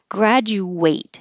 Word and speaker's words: graduate: ate a sandwich today graduate make sure you round your lips the D and the U make a ja and then the eight unrounds the lips graduate or graduate you